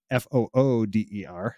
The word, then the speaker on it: foeder: for the smallest size fooder uh it's a Dutch word uh it's it's spelled f-o-e-d-e-r but it's pronounced f-o-o-d-e-r so it's like fooder um and it uh